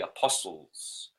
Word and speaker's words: apostles: disciples a postal 's these are twelve posts that's why they are the Apostles silent T is very telling apostles hmm very clever